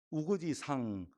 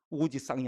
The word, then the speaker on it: 우거지상: 그냥 우거지 상이에요. 우거지 쌍이 아니고.